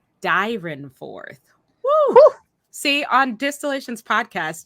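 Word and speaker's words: Dyrenforth: name was robert saint george dryanforth oh i'm saying it wrong robert saint george dyran fourth whew see on distillations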